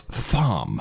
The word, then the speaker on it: Thom: And please note, Tom is spelled Thom.